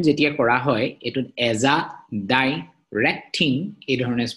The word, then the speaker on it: azadirachtin: So pronunciation jetia kora hoy, it would azadirachtin, it is pronounced kora hoy, azadirachtin.